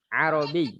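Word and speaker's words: عربي: Robby mana orangnya arti arobi norms grogi anachrony bye ini ya karena di sini ada ya dan ada tasdid maccabi disini harus ditekan arobi Robby Robby nah tapi jangan sampai huruf roknya kita panjangkan jadi tetap porsinya arobik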